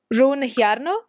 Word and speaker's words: Rune Hjarnø: I have here on my channel Rune Hjarnø. Have I pronounced it right?